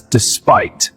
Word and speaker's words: despite: Pronounce despite as despite. Stress on second syllable.